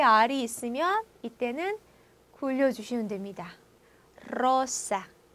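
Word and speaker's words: rosa: 로사, 로사.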